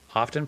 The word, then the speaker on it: often: Um uh often pronounced almond correctly pronounced as almond with a silent L. You're not supposed to pronounce the T in often.